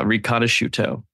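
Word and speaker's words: Riconosciuto: digital surveillance and earlier you mentioned this Michael ranoso is that how you pronounce his name yes yeah ranoso yes this childhood genius this uh this this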